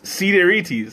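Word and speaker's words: Sideritis: what is that uh one good thing about greek is the word is usually sounds like it's how it's spelled so cedirius is see seed airtes cedirities okay i wasn't that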